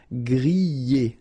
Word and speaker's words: griller: You pronounce them E, okay, even if you've got this R, okay, this combination of 2 letters, R at the end, will give you the sound E, all right, so griller, okay, let's see the others.